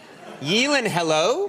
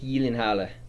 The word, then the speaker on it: Gyllenhaal: help you with that it is actually yielding halo yelling hello there it is because it's swedish yes again it's just a different pronunciation a different accent so it's jake yi linharle jake yilingella i i